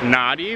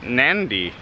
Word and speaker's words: Nadi: can go into town the town is spelled na di we've been calling it naughty but the lady on the airplane pronounced it Nandi yeah with an N in the middle so I don't know